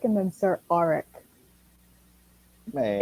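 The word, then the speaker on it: Arryk: It's Sir Eric and then Sir Auric. Man, It's spelled.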